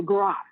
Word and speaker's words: griot: Maybe we have to go to it's spelled Griot, the Gra. I think it's pronounced the Gra, the storyteller, the one that knows our story, that knows the history, her story of the bloodline.